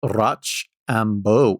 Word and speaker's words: Rochambeau: It's spelled Rochambeau. Rochambeau, like bow, like that's my bow. Oh. Beau. Yeah. Definitely French Rochambeau.